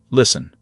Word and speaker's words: listen: The word listen has a silent T. We say listen.